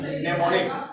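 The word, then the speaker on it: mnemonics: Am silent रहता है, नेमोनिक्स।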